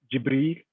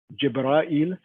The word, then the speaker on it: Jibril: So, for example, as I gave in the beginning, the different ways of pronouncing Jibra'il. So you have Jibril, Jibra'il, Jibaril. All of them are referring to the angel Jibra'il.